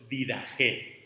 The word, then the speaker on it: Didache: Didache está escrito y pronunciamos nosotros Didache.